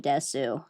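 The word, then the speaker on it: です: Tippy Chan Watashi Noi Desu. Hi, Ariel. Welcome in. Yeah. No, she desu. Oh, it's des.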